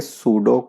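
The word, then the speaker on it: pseudo: piece of land है यहां पर पिक साइलेंट रहेगा तो इसको बोलेंगे सूडो कोड यादव जाना चाहिए सूडोकू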